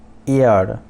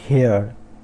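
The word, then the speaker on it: heir: फिर एयर नॉट हेयर, okay, it's एयर, एयर, तो H silent है, उसके बाद जो EIR इसको हम प्रोनाउंस करेंगे एयर, तो इसका मतलब है उत्तराधिकार, तो ईयर।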